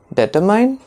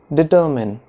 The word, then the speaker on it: determine: Is it determine? No, it is not determine. It is determine.